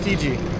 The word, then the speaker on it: Fiji: but in the Tonga language it's pronounced Fiji, Fiji, and here they say Viti, and so Okay.